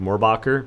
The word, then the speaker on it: Morbach: to pronounce my name I pronounce it morbach but if you ask a German person they're going to say it with way more in the back end of it um but